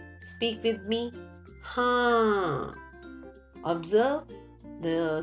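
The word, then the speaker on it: हाँ: Haan. Again, use of nasal sound. Speak with me. Haan.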